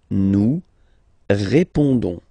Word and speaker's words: répondons: Don't pronounce the final S. You only pronounce this on sound. So you get répondons. Nous répondons.